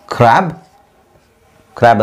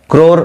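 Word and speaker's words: crow: ಸಿಗೆ ಕ್ರ್ಯಾಬ್ ಅಂದರೆ ಏಡಿ. ಕ್ರೋರ್ ಅಂತ ಹೇಳೋದು ಬೇಡ, ಕ್ರೋ.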